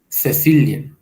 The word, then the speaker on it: Cecilia: El nombre propio Cecilia pronunciarán Cecilia, que a nosotros nos causa un poco de gracia, pero es el sonido original, ellos todavía lo conservan.